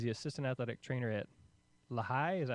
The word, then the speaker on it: Lehigh: He's the assistant athletic trainer at Lehigh. Is that how you say it, Ryan? It's Lehigh.